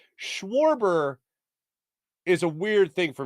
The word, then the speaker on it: Schwarber: Schwarber is a weird thing for me to say. I don't know why. But it literally is, war is in his name.